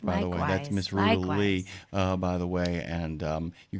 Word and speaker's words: Ruta Lee: That's Miss Ruta Lee, by the way.